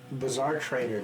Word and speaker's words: Bazar Trader: The deck that he played recently was my Bizarre Trader deck, which is spelled BAZAR TRADER, but also implies he's